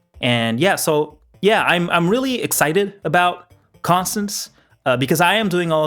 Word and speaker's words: Constance: So in the last episode, I did mispronounce the name a little bit. I think I said Cadence, and I'm very sorry for that. This is Constance.